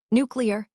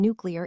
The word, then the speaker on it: nuclear: Nuclear. Easy, right? Except millions say nuclear. Even presidents, even scientists. Why does this happen? Linguists call it metathesis when sounds swap places because the mouth finds it easier.